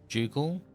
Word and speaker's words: ducal: Ducal. They actually pronounced it Duckle in the game.